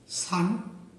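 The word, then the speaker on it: 산: বন্ধুরা আপনারা আরেকটি শব্দ দেখতে পাচ্ছেন যার কোরিয়ান উচ্চারণ সান অর্থাৎ বাংলা অর্থ পাহাড়।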